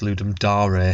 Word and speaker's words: Ludum Dare: I think it's pronounced Ludum Dare. Ludum Dare, sorry.